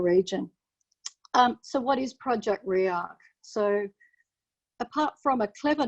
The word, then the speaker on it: Rearc: tricky to pronounce but react if you think about it as ray architecture re-architecting the digital advertising